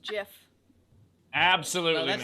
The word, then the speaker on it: GIF: Zara's yelling at me saying it's pronounced Jif.